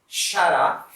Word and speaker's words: xará: So we pronounce it xará.